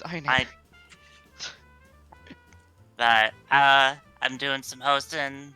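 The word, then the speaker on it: Einherjar: I can only promise that I will never learn how to pronounce Einheinyar correctly. We don't know either. It's Einheriar. It's Einheriar.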